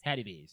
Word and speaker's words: Hattie B's: Hattie B's, yes.